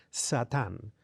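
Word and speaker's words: שָׂטָן: Cuando es verbo, la A, la última es más breve, Satán.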